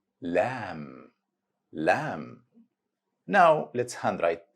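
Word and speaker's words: لام: It's pronounced just like the English letter L. Easy letter because has direct equivalent sound with English, same sound of letter L in the English word luck.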